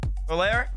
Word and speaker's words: Valera: this team in particular, Valera, is that how y'all pronunciate it? Talking about my boy Crispy. Valera. That's how Talk said to say it. That's how he said it.